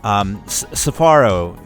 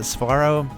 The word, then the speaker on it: Sfaro: Like Safaro, is that how you pronounce it? Sfaro, yeah. Sfaro.